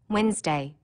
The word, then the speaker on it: Wednesday: that you don't hear wednesday don't forget the dne and that it needs